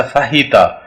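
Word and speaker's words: fajita: इसी तरह हमारे पास यहाँ पे वर्ड है फजीता, नॉट, इट्स नॉट अ फजीता, basically it's अ फाहिता। एच की साउंड आनी चाहिए।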